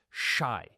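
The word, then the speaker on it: 四: The number four is particularly avoided because it is pronounced shi, the same word used for death.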